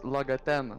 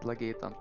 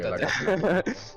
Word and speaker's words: Lagaten: And my name is Lagaten, not Lagatan. Ah, okay. Lagaten. Just, it has been annoying that everybody mispronounces it.